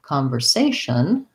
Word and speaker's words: conversation: Conversing, versus if I had, for example, the word conversation, there I have third syllable stress, and my conver would be shorter. And interestingly, conversation has the ah, so there's secondary stress,